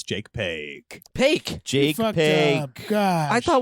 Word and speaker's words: Paque: we can just have a moment of silence, and I can say, Jake Paque. Oh, how do you say that? You Paque? just did it right. Jake Paque.